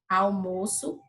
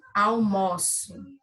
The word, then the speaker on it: almoço: Então, eu tenho aqui almoço, que é um substantivo, e o O aqui, ele é fechado, almoço, tá? E como verbo, almoço.